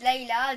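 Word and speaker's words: Lyla: Pour ceux qui disent Layla, dites Layla. Moi j'ai dit Lila parce que je préfère quand je dis Lila.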